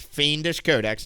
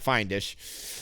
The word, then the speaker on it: Fiendish Codex: Fiendish Codex, not Findish.